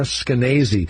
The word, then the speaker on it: Skenazy: And that's who Lenore Skenazy, who she'll tell us rhymes with crazy.